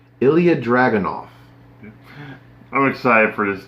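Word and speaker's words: Ilja: I've been calling him Ilha. It is not. It is Ilya. The J is pronounced like an I. Ilya Dragunov.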